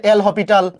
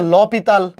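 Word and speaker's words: L'Hôpital: ফেলছি শুধু লা হসপিটাল বা এটাকে অনেকে বলে এল হসপিটাল বা আসল উচ্চারণ হচ্ছে ল পিততাল আমরা এটাকে ভালোবেসে এল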